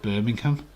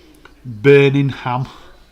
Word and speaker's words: Birmingham: Because you pronounce the ham. Birmingham. We don't say the ham.